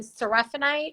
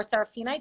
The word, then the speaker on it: seraphinite: For me, the best stone for angels are celestite, which is like a light blue stone, and seraphinite or seraphinite, depending upon if you're what syllable you're putting the emphasis on.